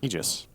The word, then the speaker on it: Aegis: what about AIS cerin egis it's egis technically but ice frog himself said no I want everyone to mispronounce it as Aegis so we do out